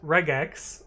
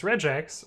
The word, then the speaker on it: regex: as this word here, which some people say as regex with a hard G, and some people say it as regex with a soft G.